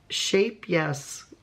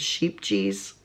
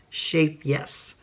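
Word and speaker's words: Scheepjes: they are making a shape yes some of us pronounce it sheep GES but yoka who is from the Netherlands and speaks Dutch told me it's she phonetically spelled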